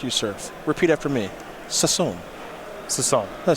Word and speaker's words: Sasson: Sasson.